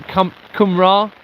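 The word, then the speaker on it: Cymru: And I I'm forgiving me Kumra. Kumra, isn't it? No, Kum Kum. I think it's Kumra, isn't it? I don't know how you pronounce it.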